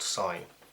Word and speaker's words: sin: It's S-I-N, and it's still pronounced sine.